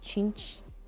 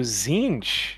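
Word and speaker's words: Tzeentch: One is called the Demons of Chinch. Excuse you? No. That's I don't know. It's like Yeah. Czeentch. Chinched. Oh, Zinch.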